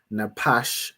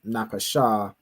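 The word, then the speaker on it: נפש: like like you know to pronounce this as napash instead of napasha from practice from going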